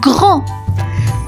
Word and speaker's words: grand: On enchaîne avec le second mot, vous savez désormais comment ça se passe, grand, grand, grand, grand. Et oui les copains, grand s'écrit G-R-A-N-D, grand la lettre muette, le D à la fin.